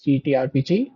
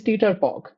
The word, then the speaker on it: TTRPG: Uh, Side note, this is the first and last time that I am pronouncing it as GTRPG for your benefit. From now on, it is Teeterpog.